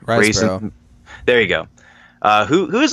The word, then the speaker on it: Riseborough: Oh, how do you pronounce her last name? Riseborough.